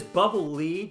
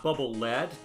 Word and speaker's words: Bubble Lead: here by the way it is bubbly not bubble lead um the if you